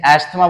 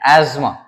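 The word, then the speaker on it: asthma: ही होता ही शब्द अगर आपको लगता है इसको इंग्लिश में अस्थमा बोलेंगे तो दिस इसे रंग इसको हम प्रॉपर्ली प्रोनाउंस करते हैं आसमा अब यह कैसे पता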